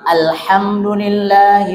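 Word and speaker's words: الحمد لله: Hi-nya harus jelas. Hi rabb. Jadi jangan sampai gini. Alhamdulillah rabbil alamin. Nah, sering gitu kan? Kan kebanyakan kita bacanya alhamdulillah. Gak pakai hi kan? Nah, alhamdulillah. Jadi ke bawah ke bacaan ini. Jadi harus di harokat kasrohnya harus dibaca jelas.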